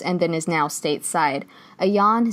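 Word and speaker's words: Ayaan: then is now stateside a yawn see really I believe is how you pronounce her name and just reading about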